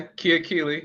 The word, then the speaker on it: Kiakili: Yeah, Kiakili.